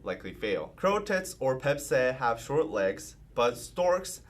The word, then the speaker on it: Baepsae: Oh, Baepsae.